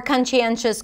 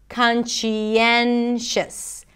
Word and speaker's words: conscientious: relating to someone's conscience to pronounce conscientions you begin with khan khan and then it's a chu sound and high e chi but know that you can also pronounce it just with the shi sound kanshi then and then you end it with shus shis conscientious conscientious so now as i said